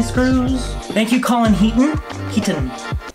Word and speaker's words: Heaton: Heaton. You always pronounce the T's with a hard T.